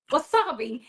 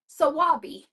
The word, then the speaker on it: wasabi: And I was like, wasabi, yeah. Sabi? Oh, sawabi.